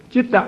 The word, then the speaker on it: Chitta: Chitta is Pali. Whenever you see C-I, or normally we pronounce it sit, right? Citta. But here, when you see C, should pronounce as the Chitta.